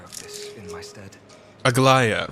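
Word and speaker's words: Aglaea: Aglaya, right, that's how you pronounce it.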